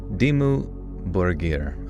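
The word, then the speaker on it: Dimmu Borgir: Dimu Borger. Okay. Sounds like borier with a soft G, not like burger.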